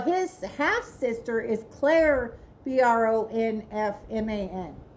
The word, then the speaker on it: Bronfman: was partners with Edward Bronfman, I think is how you say it, Brofman.